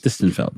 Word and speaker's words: Distenfeld: How do you pronounce Gershon Distenfeld. Distenfeld.